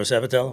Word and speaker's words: Sabatello: Sabatello, right? Yes, Did sir. I say it right? Yes, Sabatello.